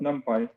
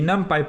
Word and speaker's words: NumPy: I've also heard it pronounced NumPy, but I think it stands for numeric Python. So NumPy, I think, is the more standard pronunciation. And so the NumPy package is the quasi-standard,